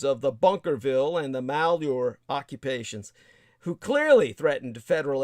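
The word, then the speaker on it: Malheur: way the malor occupation the malor is spelled m a l h e Ur if I remember so malor and that's of course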